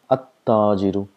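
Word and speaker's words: التَّاجِرُ: So we have to mention about this letter here, huruf shams, where we've already tell that the sound of lam is silent, so we pronounce it at-tajiru.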